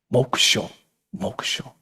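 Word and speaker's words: 黙照: The Japanese pronunciation is mokusho zen. Mokusho, mokusho, mo zhao.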